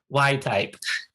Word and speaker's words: WYTTYP: They're and like, then no, I was like, no, it's not what up. It's Y type.